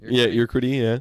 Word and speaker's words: Urquidy: of Morton, Corbin, Keuchel, Rodriguez, Pearson, Stroman, and Urquidy. Is that how you say it? Urquidy, yeah.